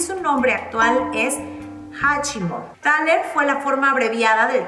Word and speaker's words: Thaler: Proviene de la palabra thaler, pronunciada thaler, con una A larga, que es el nombre